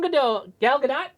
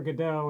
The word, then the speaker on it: Gal Gadot: Yeah, everybody gets the things of Waiting for Godot, and they think that's how you say it, but it's Gal Gadot. That's how she pronounces it.